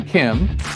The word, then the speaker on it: Kem: And his name is John Kim, and that's spelled K-E-M, and he is the president of the American Battery Factory.